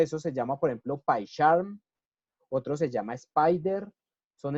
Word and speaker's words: PyCharm: Es importante que lo pronuncien así en inglés, PyCharm, porque si no suena maluco.